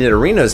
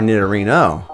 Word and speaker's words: Nidorino: out to be true nidorina and nidorino's names are nearly identical with the only difference being the feminine a sound at the end of nine arena and the masculine o sound at the end of nidorino because they resemble rhinos